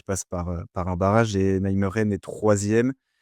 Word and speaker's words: Nijmegen: Le NEC Nijmegen, tu me corriges sur la prononciation par pitié. Ça devrait se Nijmegen.